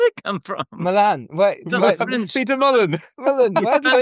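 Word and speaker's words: Mullan: Peter Mulan? Mulan, yeah. Where did it come from? Milan. Peter Mullen.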